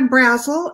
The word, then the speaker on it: Brazil: professional and i'm brazel and my last name rhymes with razzle or dazzle i write historical crime